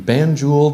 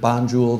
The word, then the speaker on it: Banjul: public health she was born in ban jewel to Gambia or she pronounces it Banjul the Gambia I can